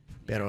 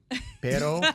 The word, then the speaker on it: pero: Pero, I always thought meant dog. No, but, well, pero with 2 R's is dog. P-E-R-O is butt. How would I say dog then?